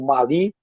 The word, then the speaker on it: Mali: Olha, eu continuo dizendo Mali porque eu conheço o Mali, eles pronunciam assim. A mim me parece que dizer Mali é meio gringo, mas já sabe, não vou fazer guerra por causa disso.